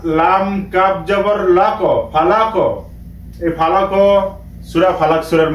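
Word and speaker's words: فلق: ওইখানে ওই সময় আমরা ফালাক উচ্চারণ করব, কেননা এ কফ উপরে জজম আছে। জজম যদি কফের উপরে যদি জজম থাকে তখন আমরা কলকলা করে উচ্চারণ করব।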